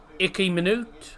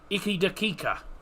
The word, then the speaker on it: iki dakika: Icky minute, I believe it.